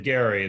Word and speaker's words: Gerry: He pronounced it Gary, the pronunciation.